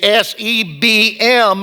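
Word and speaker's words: seven: It is not S E V E N. It is S E B M and it's pronounced seb'm.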